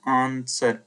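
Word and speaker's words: answer: है तो यानी कि आंसर हम लोग इसको पढ़ते आंसर यहां पर दोस्तों यानी कि हम लोग डब्लू का उच्चारण नहीं करते हैं तो जब डब्लू का उच्चारण नहीं करेंगे यानी कि हमारा साइलेंट होता है तो आंसर यहां पर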